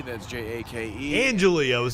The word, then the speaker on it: Angeli: Can you give me your first and last name and how to spell it, please? Sure, my name is Jake Angeli. That's Jake. Angeli, I was saying it wrong.